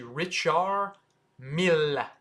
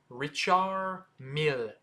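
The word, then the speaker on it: Richard Mille: and it's not Mill you don't pronounce the d in Richard and you want to double pronounce the L in Mill so it's actually richar Mill richar Mill and then faster is Richard Mill so that's how you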